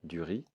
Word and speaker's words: riz: du riz du riz je ne prononce pas le Z du riz ici de la farine